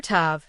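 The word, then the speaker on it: ת: Letter Tav, pronounced like the English t as in time.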